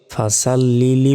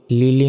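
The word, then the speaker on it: فَصَلِّ: জিনিস এখানে ভুল করি সেটা হচ্ছে ফাসাল্লি বলি লিলি নয় দেখুন একটা শব্দ রব্বিকা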